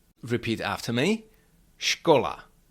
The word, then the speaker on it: škola: S with hatch is pronounced sh like in the English words shu or cash. Repeat after me. Skola. Shola.